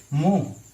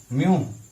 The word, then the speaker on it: mho: Inverse है यानी कि उल्टा कर दें तो ये क्या हो जाएगा? MHO, मोह, म्योह।